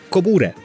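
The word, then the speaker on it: コブラ: Cobra, or "Kobura" if they pronounced it.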